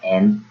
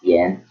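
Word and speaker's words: 円: So even though you say isen en, so that in Japanese the yen is used and it's pronounced en, not yen. So because there's no ye in the hiragana alphabet.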